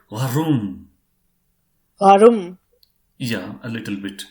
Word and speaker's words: warum: So this word warum is not to be pronounced as warum. It is to be pronounced as warum. Okay, warum. That is like from the deep throat that sound should come out.